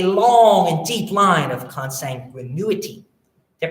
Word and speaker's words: consanguinity: Yet the intestacy statute lists a long and deep line of consanguinity. Did I pronounce that right?